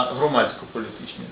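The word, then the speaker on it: громадсько-політичні: все-таки не сутополітичні а громадськополітичні з наголосом на першому на першій частині слова тому на майбутнє Звичайно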